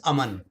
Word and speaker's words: Aman: Tell me, Aman. I'm sorry if I don't know if I'm pronouncing your name well. I'm horrible with name No, pronunciations. you're pretty close. It's Aman.